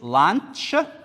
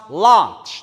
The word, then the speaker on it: lunch: Meal number two is lunch. Take care when you pronounce lunch. Not lunch. Lunch.